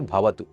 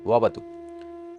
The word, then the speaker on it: वतु: बहुत लोग गलती करेंगे। भवतु भवतु नहीं वतु ओम सहना ववतु सहनो